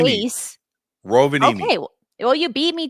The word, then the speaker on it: Rovaniemi: This one took place, and also bear with me with the pronunciation of this Air Force. It's Rovaniemi. base. Rovaniemi.